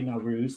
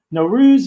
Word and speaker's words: Nowruz: For the Persian audience, happy, not happy Nowruz. That's not how you say it. I take notes. I should know this stuff. Nowruz Mubarak.